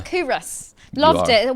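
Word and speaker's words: Culross: In Coorus, am I saying it correctly now, Fat? You are. Coorus.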